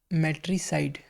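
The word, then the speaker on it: matricide: Okay, जो CIDE है वो खुद base CID plus silent E को कंबाइन करके बना है, ठीक है। मतलब साइलेंट ई मतलब इसकी खुद की आवाज़ नहीं आएगी, ठीक है। मैट्रिसाइड में ई की आवाज़ नहीं आ रही है।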